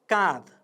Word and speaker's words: काँध: छुट्टै उच्चारण गर्दा ध सग्लो उच्चारण भयो। काँध भन्दा त्यहाँ आधा उच्चारण जस्तो लाग्छ अथवा हलन्त उच्चारण भएको हुन्छ।